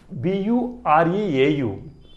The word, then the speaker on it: bureau: Next, BUREAU. This is also a two-syllabic word, that is bureau. Here you see this phonetic transcription. This is U. So here you taken the sound of U.